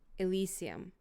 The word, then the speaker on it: Elysium: And you guys are heading toward the Elysium.